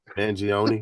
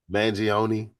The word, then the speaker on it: Mangione: Mangione. How you pronounce his dude's name, man? Mangione. Mangione from Towson, Maryland, right?